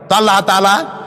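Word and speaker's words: الله: নাম আল্লাহ বলেন তো আল্লাহ নয় কিন্তু আল্লাহ হচ্ছে অশুদ্ধ শুদ্ধ হচ্ছে আল্লাহ বলার সময় মুখটা গোল হয়ে যাবে বলেন তো সবাই উচ্চারণ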